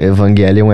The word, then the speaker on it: Evangelion: Eu acho que a pronúncia Evangelion é mais próxima do original, tanto no grego quanto na pronúncia em japonês.